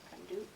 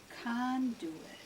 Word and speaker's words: conduit: Conduit. Oh, conduit. Okay. Conduit. And the accent is on this.